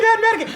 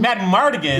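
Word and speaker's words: Madmartigan: I thought it was mad medic. Mad Migan. Matt Mardigan is from Willow.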